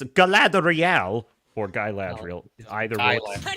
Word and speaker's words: Galadriel: it reminded me of gadriel in rings of power because she goes around mouthing off at people demanding things threaten said name wrong Gad G it's Galadriel or gadriel either way